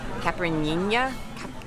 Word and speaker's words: caipirinha: It's caipirinha. Caipirinha. It's the signature cocktail of Brazil. Caipirinha.